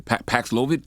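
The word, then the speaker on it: Paxlovid: tell me about this uh kobe 19 antiviral pronounce it for me with a paxlovit paxlovit that hit it you hit you did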